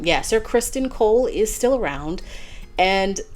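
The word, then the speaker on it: Criston: is AKA crisen wait Kristen Tristan wait what is his name I think it's sir Kristen but it's spelled like c r i s t o n yeah sir Christen Cole is still around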